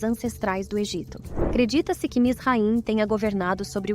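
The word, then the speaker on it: מצרים: sua primeira aparição bíblica como misraim ou conforme pronúncia mits raim Como podemos observar aquele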